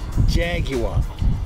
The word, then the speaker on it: Jaguar: Three syllables. Jaguar.